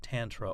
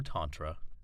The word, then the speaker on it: Tantra: By the way, just as Tantra can be pronounced Tantra or Tantra, Lama Yeshe's name can be pronounced Lama Yeshe or Lama Yeshe.